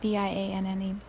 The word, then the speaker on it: Vianne: It's Vianne.